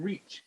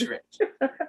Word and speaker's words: Reich: It's Rich. His last name is Rich, not Reach. It's Rich. It's Rich. All right. Yeah. All right, Alex Rich. For some reason, I always pronounce it Reach.